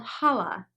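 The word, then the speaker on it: challah: a few times it's pronounced differently than it is spelled so this is called holla traditionally hala is defined as any bread that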